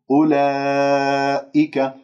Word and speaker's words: أولئك: أربع أو خمس حركات، لكنه لا تقول أولئك، لا تمل صوت الألف، أولئك لا تتكئ على الهمزة بقوة، هذا يعني مبالغ فيه وتعسف. أولئك الذين خطأ، خليك يعني سلس عليها. أولئك الذين لا تمسك اللام